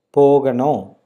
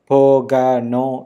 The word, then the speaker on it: போகணும்: போகணும். Again, that A is a little smaller, so you can try to pronounce it in a very natural tone, a natural form, instead of saying pogano. No, it's போகணும்.